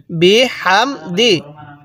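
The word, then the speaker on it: بِحَمْدِ: হাম দাল জের দি বি হাম দি বি হামদি কিভাবে শিখবো ফা সাব বিহ বি হামদি এই হা লাগবে এই মিমের সাথে এই হা টা উচ্চারণের সময় মুখ দিয়ে হালকা বাতাস বের করব তাহলে ফা সাব্বিহ ফা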